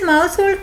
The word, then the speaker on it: Mousehold: Mousehold hid in a hole took shelter. Here it is. Mouseold to uh in the poem it is to rhyme with household.